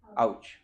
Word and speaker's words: AOCH: तो AOCH, बस ये अगर ध्यान में रख लिया, क्या प्रोनाउंस करोगे इसको? AOCH, आउच।